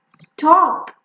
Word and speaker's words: stalk: Chalk, stalk, this is the stalk. Stalk is also a verb, but we are not focusing on that here. So the spelling and the pronunciation is stalk.